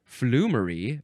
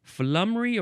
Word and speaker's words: flummery: have flamy or flamy I would have probably wanted to pronounce it flummery but no I think it's flamy or flery spelled f l u